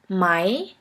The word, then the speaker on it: Mai: letters have one sound the first one is which is pronounced like the english word for i i here we have the example of the word mai mai which means the month